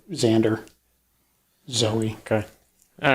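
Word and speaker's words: Xoey: uh north carolina to zoe hawk yeah okay i did not know that spelled with an x okay x-o-e-y and she ended up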